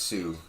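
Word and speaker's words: Seaux: um Sue to s-e-a-u-x just pronounced Sue like the Sioux Indians okay um I walk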